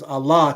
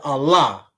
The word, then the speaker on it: Allah: They added an A and they called it Allah, but it's four letters. Those four letters are pronounced like the word all because it's ALL, like the word all with an H on the end of it.